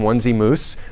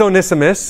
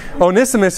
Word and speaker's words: Onesimus: college group back home we would call him onesie moose but that is not a correct pronunciation it is onesimus and his buddy onesie forest and first timothy also not a correct pronunciation onesimus is his name and one day he had